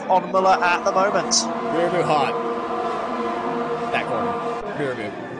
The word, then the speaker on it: Mirabeau: Mirabu hot. That corner. Mirabu. Mirabeau indeed so. The corner comes back to me now. With the right pronunciation.